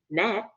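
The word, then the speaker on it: gnat: letters in them like Nat which is g-a-g-n-a-t G and a t we don't hear the G so we might just say an a t so it makes no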